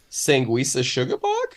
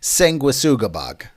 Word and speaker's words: Sanguisugabogg: Moving on, we got a new one from a band I'm gonna assume is pronounced Sanguisugabogg? Nope. Sure. Hit me. It's Sanguisugabogg.